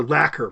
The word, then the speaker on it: lacquer: Well, they're lacquer boxes. Lacquer. Okay. L A C Q E R. I mean, couldn't you say the C is not being pronounced there?